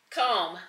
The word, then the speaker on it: comb: that's funny let's see silent B comb comb your hair yeah that to me